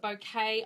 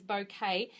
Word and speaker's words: bokeh: bouquet technique um so it's pronounced a little bit differently in different places some call it boka some call it bouquet I believe from reference the correct term is bouquet and that's that photography